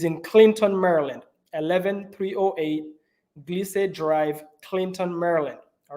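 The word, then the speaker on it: Glissade: 11 308 gleasade Drive I think it's pronounced glisse so it's g-l-i-s-s-a-d-e Drive is in Clinton Maryland 11 308 glise Drive Clinton Maryland all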